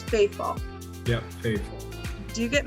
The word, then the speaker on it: Fafaul: how do you say your last name it's faithful yeah faithful do you get mix-ups on your